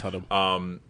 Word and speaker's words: Hunnam: It's Hunnam.